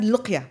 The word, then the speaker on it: Loqia: And that's why when I introduced the name I said LOQIA. Yeah. Which is Q in Arabic, it's qa. Yeah. So that's how I pronounce it.